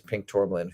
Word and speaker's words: Pink Tourmaline: Pink Tormlin. Huzo. Gorissa says, "Yes, I got the name pronounced right."